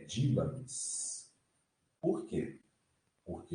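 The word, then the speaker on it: δύναμις: A pronúncia dele é essa aqui, ó. Dinamis. E não dunamis.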